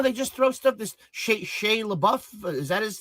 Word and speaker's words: Shia LaBeouf: This Shia LaBeouf, is that how I pronounce his name? Shia LaBeouf, yeah.